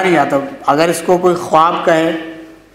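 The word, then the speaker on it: خواب: एक लफ्ज है खानी यहां वाव नजर तो आ रहा है लेकिन पढ़ा नहीं जाएगा यह वाव पढ़ा नहीं जाता इसको वाव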